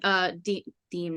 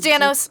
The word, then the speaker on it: Danos: You've only ever seen Deem, not Danos. You've only ever seen. No, it is Danos. Sorry. It is Danos? Yep. Shit. It is Danos. I've been saying his name wrong this entire game.